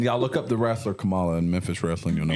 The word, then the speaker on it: Kamala: It's Kamala. It's like comma. You're putting too La. much. Kamala. You're putting too much. Kamala. You're Yeah, not. that's You're better. putting too much emphasis on the first syllable, Jamie.